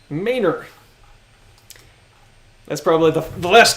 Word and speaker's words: Manor: Guadalupe is pronounced guadaloop and the road that is spelled Manor is pronounced mayor that's probably the the